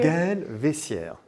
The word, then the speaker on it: Gael Veyssiere: Gael Veyssiere.